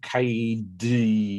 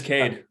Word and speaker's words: Kade: i didn't do i didn't say it is pronounced cade isn't it it's not ked or something nope it's cade yep okay so uh joining me this evening